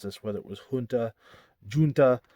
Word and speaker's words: Junta: this, whether it was Junta, Junta. I've always said Junta. I believe that's the closest way to say it.